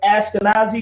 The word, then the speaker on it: Ashkenaz: a fake name have you ever heard of ashkenazi jews yeah okay if you go to verse chapter 10 verse 2.